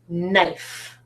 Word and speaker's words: knife: give you a word knife knife knife starts with this phonogram knen but do I say k knife is that what I say I don't